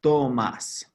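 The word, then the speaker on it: Tomás: - Toma Gomez professor no it's pronounced ah Tomas Tomas Tomas own a cerveza your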